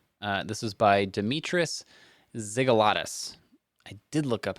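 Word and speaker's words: Xygalatas: Uh this is by Demetrius Ziggalatus. I did look up how to pronounce this one. It's X Y G A L A Ts. Uh Ziggalatus.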